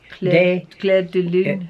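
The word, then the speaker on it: Clair de Lune: Not day. Claire de Lune. If it had an S on it, D-E-S, that would mean day.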